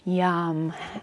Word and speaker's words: yam: The one for the heart is yam, Y-A-M. So it almost sounds like you're going to yawn, yum, or yum. So you could even pronounce it yum if that helps you kind of connect into